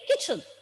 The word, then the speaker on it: kitchen: We don't give much stress on this letter T. We just say it kitchen, kitchen.